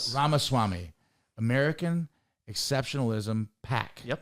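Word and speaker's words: Ramaswamy: Vav Ram Swami. Ramaswami. You got close. Ramaswami.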